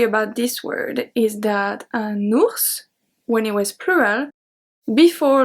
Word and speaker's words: ours: Now we pronounce it no matter if it's singular or plural.